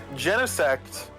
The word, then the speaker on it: Genesect: what's like the lowest i used to call genesect gene sect oh that hurts because i they didn't have a movie and it's literally gene i get it but i think it's supposed to be like genesis kind of it's weird well all right what